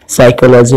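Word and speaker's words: psychology: जैसे नेट में आपको जी साइलेंट है, साइकोलॉजी में पी, और ऑनर में आपको एच, राइट में डब्ल्यू।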